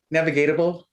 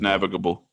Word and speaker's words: navigable: knew chad would know navigateable no navigational navigable you used an extra syllable you didn't need to read it exactly